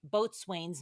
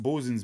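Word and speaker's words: boatswain's: father Byron an alcoholic US Navy chief chief boat Swain's mate boy that's a mouthful after Zach bosen it's pronounced bosen's mate BL it all together mate well thank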